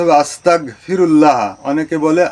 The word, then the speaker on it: আস্তাগফিরুল্লাহ: অর্থাৎ এর উচ্চারণটা হবে আস্তাগফিরুল্লাহ অনেকে বলে আস্তাগফিরুল্লাহ আস্তাগফিরুল্লাহ বলতে এর অর্থটা অন্যরকম হয়ে যায় যে আমি কাফের হতে চাই ক এর মতন হবে না গ এর মতন হবে উচ্চারণটা আস্তাগফিরুল্লাহ সম্মানীয় দর্শক শ্রোতা আশা